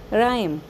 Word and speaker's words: rhyme: Word number पाँच है, राइम, RHYME, राइम। प्यारे बच्चों, ये जिहड़े वर्ड्स हैगे आ इन्हां विच कॉमन की है? इन्हां विच कॉमन है कि जिहड़ा एच है वह साइलेंट है।